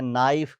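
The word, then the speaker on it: knife: year H silent है नाइफ के silent है नॉलेज के अंदर के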